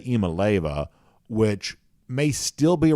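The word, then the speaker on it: Iamaleava: So at one point in time, I used to say Amaleva, which I think turned out to be wrong. Now I say Imaleva, which may still be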